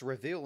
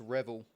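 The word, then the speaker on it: Reville: I think it's actually pronounced Reveal instead of Bruce Revel.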